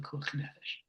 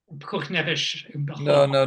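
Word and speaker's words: פיקוח נפש: It would not apply in cases of other cases of Pekuach Nefesh. Pekuach Nefesh. No. You're putting the emphasis on the wrong place again.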